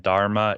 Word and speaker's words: Dharma: difference uh okay yeah dhamma is the Pali uh the Pali pronunciation of it and Nepali spelling and Dharma is the Sanskrit oh okay yeah so